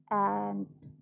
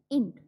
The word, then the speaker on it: ant: To say ant, we don't have to produce E sound. This is ant, not int.